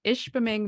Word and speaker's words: Ishpeming: So I grew up in Ishpeming, Michigan. Whoa, which is good. spelled phonetically as it sounds.